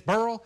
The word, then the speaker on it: Beryl: My grandfather was named Merle. It's Beryl. Sounds kind of the same.